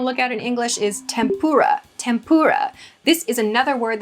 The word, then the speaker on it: tempura: at in English is tempura. Tempura. This is another word that has adopted a kind of weird pronunciation in English. Tempura, with a pur emphasis there, comes from the Japanese tempura. Tempura.